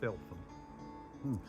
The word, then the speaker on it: Felpham: Well, locals pronounce Felpham.